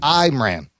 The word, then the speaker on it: Imran: name is it for Imran I think Iran I am an actor I'm an Apple product HOD yeah you pronounce my say my name by saying I'm Ram it's the news Wow